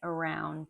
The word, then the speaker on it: around: If it starts with an A, the first syllable is an A, and the second syllable, round in this case, is the strong syllable where the stress is.